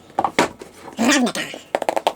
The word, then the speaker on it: Ravnica: That's how you say it too. Ravnica.